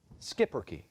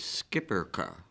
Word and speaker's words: Schipperke: Schipperke. Language of origin, please. This word is from a Dutch word that went into Flemish. Are there any other pronunciations? Yes, there are. Schipperke. The alternate is Skipperke.